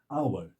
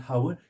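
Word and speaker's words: hour: silent रहता है जैसे आवर एच ओ यू आर इट्स नॉट हावर इट्स आवर एन आवर एन आवर एक घंटा सात इसी तरह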